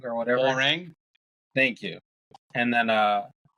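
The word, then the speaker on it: Hwoarang: one guy's name I never know how to pronounce how wrong or whatever howang thank you and then uh if I wanted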